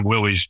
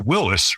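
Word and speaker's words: Willys: brought up calling the Willies Jeeps but of course the man behind the name was John North Willis and the name was properly pronounced Willis rather than Willie's so I just say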